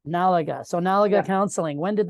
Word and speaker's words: N'alaga: but is it Nalaga or how do I pronounce that? Nalaga. Nalaga.